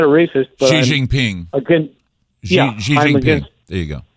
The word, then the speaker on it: Xi Jinping: how that was used now how do you pronounce the premier chairman of china's name i'm not a racist xi jinping there you go right i'm against all stupidity